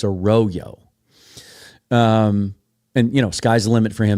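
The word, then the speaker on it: Arroyo: that spelling of a last name, it's usually pronounced a royo. But in his case, I learned this from Daniel Jeremiah, it's a royo.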